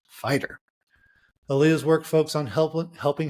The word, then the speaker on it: FYTR: She works with individuals looking to redefine their reality, which led to the creation of her coaching business, Finding Your True Reality, or FYTR, pronounced fighter.